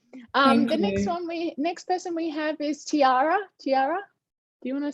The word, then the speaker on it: Tierra: Next person we have is Tierra. Tierra, do you want to say hello? Yeah, thanks, Tasman. It is Tierra, but it doesn't matter.